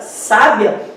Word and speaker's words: sábia: Na primeira frase, na palavra sábia, nós temos como sílaba tônica, sempre pensando de trás para frente, a segunda.